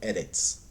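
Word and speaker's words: ארץ: Age de forma normal eres né ou alguns pronunciem como erets né mas esse o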